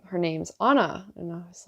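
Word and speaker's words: Ana: kept saying her name's anna and i was like okay i don't know anyone with that name she's like well she's like it's spelled a n a like anna but she keeps saying anna and she kept saying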